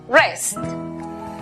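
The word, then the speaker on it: wrest: La W antes de R al comienzo es muda. Por lo tanto, la pronunciación para la palabra arrebatar es rest.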